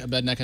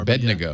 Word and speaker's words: Abednego: Yeah, they crucifery to make the Old Testament story of Meshach, Abednego, and Rednego. I can't pronounce the names anymore. Abednego.